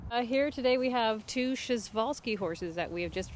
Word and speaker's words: Przewalski: arrived here last thursday in the evening this schezwalski horse it's a very awkward spelling and you pronounce it schezwalski horse these guys are the only uh wild